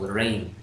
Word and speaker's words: Reinns: me about rings and it's just simple rain rain rain rain it's just like you know her ring call friends and put